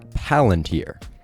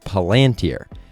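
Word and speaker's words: palantír: tolkien but developed by enthusiasts who mandate that it be pronounced palantir however in the movies it's pronounced palantir now i would just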